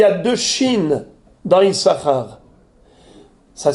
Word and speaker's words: Issachar: le savez qu'il y a deux chines dans isahar ça s'écrit avec deux s le point est à gauche donc c'est S c'est pas Chine n'est-ce pasar normalement come on aurait dû lire isasar mais on ne lit pas isasar bien qu'il